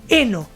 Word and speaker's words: heno: Exatamente, heno. É simplesmente tirar a F, gente.